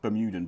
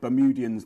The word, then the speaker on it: Bermudian: it right correct yeah a lot of people were correct saying it should be just bemuden but bermudian's the real bermudian yeah a lot of